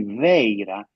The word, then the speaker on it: Vajra: But the best approximation for the pronunciation of Vajra, Vaira, in Prakrit, Gandhari, is actually Veira, which is exactly the